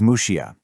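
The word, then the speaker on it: Muxía: This is Mushia. That's spelled Muxia A. But here's the thing, that name is actually pretty new. It's the local Galatian pronunciation, and it only became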